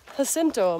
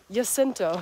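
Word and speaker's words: Jacinto: not even though but because it's spelled with a J and some people say it's actually pronounced like a y like the Germans pronounce a j like yento or s sento um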